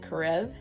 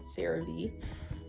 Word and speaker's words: CeraVe: brand's name because i was gonna call it karev but it's actually called cerave which is good to know because i would have pronounced it the wrong the whole entire video